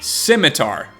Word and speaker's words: scimitar: Scimitar. It's pronounced scimitar.